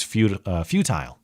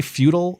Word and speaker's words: futile: I would say that more correctly it's probably pronounced futile, but somebody pronouncing futile just to disambiguate whether they're saying feudal, like the feudal system, like kings and serfs.